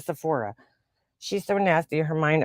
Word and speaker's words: Sephora: kind of like how she says sephoria instead of Sephora she's so nasty her